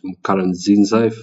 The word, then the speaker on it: Pierre Nkurunziza: And then we had um President Pierre Nkurunziza, that's how you say his name, from Burundi,